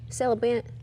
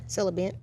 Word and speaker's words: celibate: that word celibate syllable celibate Toby what did I call it Silla bean I just put an extra syllable in it welcome back